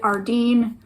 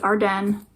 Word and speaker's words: Arden: arden here in canada i know people pronounce it ardeen but it's our den and i didn't even